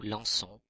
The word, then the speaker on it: lançons: Pour ces verbes-là, il faut placer une cédille sous le C à la première personne du pluriel, nous, pour garder la prononciation S. Exemple, pour le verbe lancer, cela fait nous lançons avec un C cédille.